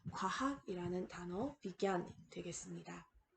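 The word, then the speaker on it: विज्ञान: 기어, 진야가 아니라 겨음으로 겨라는 음으로 발음되게 됩니다. 그래서 옆에 있는 단어를 보시면요. 비기안, 과학이라는 단어 비기안 되겠습니다.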